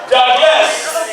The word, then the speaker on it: Douglass: pronounce my name as dougas somebody say that you got two s you make sure you say the S so when they call